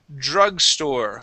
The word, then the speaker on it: drugstore: Uh, last word here is the word drugstore. Okay, remember we want that vibration. Drugstore. Drugstore. Okay, almost. Okay, let's try just that sound at the beginning. We're going to say, please repeat that. Jur.